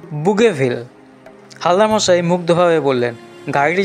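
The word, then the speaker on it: Bougainville: নাম doctor Vasco বললেন ফরাসি উচ্চারণে তার নাম দ বুগেভিল হালদা মশাই মুগ্ধভাবে বললেন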